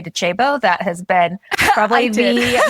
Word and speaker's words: Docebo: It's, as my former head of content said, Docebo. So it is an Italian-based or Italian-founded company. So great job on the pronunciation.